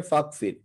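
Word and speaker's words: فاغفر: তো ইগফির এর সাথে আপনি যদি ফা একসাথে মিলায় পড়েন, তখন কিন্তু এই যে হামজাটার উচ্চারণটা আর হয় না, তখন এটা ইয়া হয়ে অ্যাসিমিলেট হয়ে বা একত্রিত হয়ে এটা হয়ে যায় ফাগফির।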